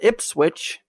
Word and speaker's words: Ipswich: But it's Ipswich. Yeah, I'd screw that up. It's spelt just like it sounds.